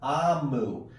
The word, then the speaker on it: Omu: So, it says, note to the reader, Amu, O-M-U, is pronounced Amu.